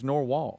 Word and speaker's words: narwhal: He says it's Norwal. That's how you pronounce it.